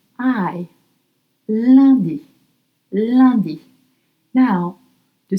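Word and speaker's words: lundi: And it's spelled L L U N D I Liy. Landy.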